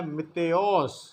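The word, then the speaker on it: Ματθαῖος: یونانی نام ہے اور یونانی تلفظ اس کا ہے متیوس، اور یہ اس کا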